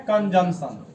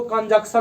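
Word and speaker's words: conjunction: हम लोग कहते हैं कंजंक्शन क्या कहते हैं कंजंक्शन स्पेलिंग देखिए सी ओ एन के यू एन सी टी आई ओ एन बहुत सारे लोग इसको कंजक्शन पढ़ते हैं कंजक्शन सही प्रनंसीएशन नहीं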